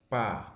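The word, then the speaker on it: pä: Entonces, cuando contracción, diéresis, pa, entonces se alarga la vocal al momento de pronunciar, ¿ya?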